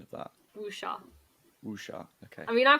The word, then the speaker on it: wuxia: Sorry, can you correct my pronunciation of that? Wuxia.